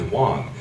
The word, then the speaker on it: Wang: name is w but I pronounced it the correct way which is Wong W denotes Central and